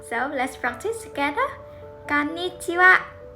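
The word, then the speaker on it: こんにちは: Something interesting is that if you look at the hiragana, the last character is ha, but we pronounce it as wa. So let's practice together. Konnichiwa. Konnichiwa.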